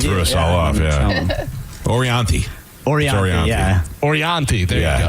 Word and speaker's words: Orianthi: By the way, is he still dating Orathani?